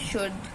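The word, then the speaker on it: should: silent letter हम देखेंगे यदि एल के बाद डी एफ के या एम आ जाए तो एल साइलेंट होता है जैसे कि शुड वुड देखो शुड के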